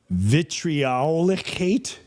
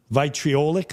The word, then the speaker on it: vitriolic: this who regularly shows I don't even know how to say this word. Vitriolicate. V I T R I O L I C. Have you ever heard of that? Vitriolic. Vitriolic.